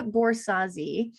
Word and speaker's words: Borzási: so excited to bring you my friend borsazi and I should have asked you ahead